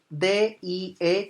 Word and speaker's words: die: Pero si ustedes dejan de ver Modi o Modie, aparece en inglés la palabra D-I-E, que se pronuncia die. Eso quiere decir muerte.